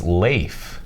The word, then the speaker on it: Lafe: I learned today that we've been saying his name wrong all these not least it's Lafe no kidding like out like a potato chip with an F at the end I got it yeah